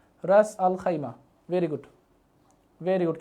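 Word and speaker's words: Ras Al Khaimah: এটা শুধুমাত্র আমি খাইমা লিখে দিলাম, এটা উচ্চারণটা হবে রাস আল খাইমা, রাস আল খাইমা।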